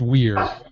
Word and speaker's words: vir: man is uh beer it's pronounced Weir but it's spelled vir means man andus manling